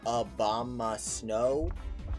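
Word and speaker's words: Abomasnow: mean i kind of did that's how i pronounce it like i'm aware it's technically obama snow but it's easier to just say obama snow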